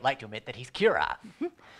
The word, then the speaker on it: Kira: The crowd in general begins calling him Kira. The Japanese pronunciation of killer.